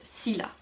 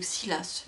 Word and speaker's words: Scylla: Bang, et du personnage de Scylla. Ou Silas, mais moi je l'ai toujours prononcé Scylla, donc voilà.